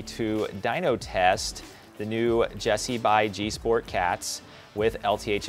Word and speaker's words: GESI: g sport cats and and by the way jessie is spelled g-e-s-i so these cats are